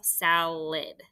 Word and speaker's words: salad: the first syllable easy the second syllable is where we have our schwa but it's a d for that id sound so closed syllable put abrev closed syllable put a write schwa symbol over the unexpected vowel salid all right let's do